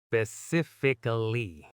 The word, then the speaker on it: specifically: The mistake most learners make is dropping the ic sound in the middle or stressing the wrong part. Specifically. You know, once you say it slowly like that, it's actually kind of satisfying. Right? It flows really nicely when you get it. The key is just big stress on sif. Everything else, lighter.